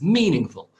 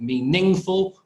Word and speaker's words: meaningful: word there yeah and you can see the the stress is on the first syllable because we have the little marker the front so it's meaningful not meaningful or meaning full but it's meaningful with